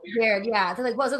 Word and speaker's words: Verde: The population of Cape, is it pronounced Verde? Verde, yeah.